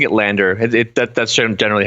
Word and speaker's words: LANDR: Oh, uh yeah, we were pronouncing it Landr. It That's generally how it's kind of That's kind of what was settled on eventually. So, it's it's pronounced Landr now, yeah.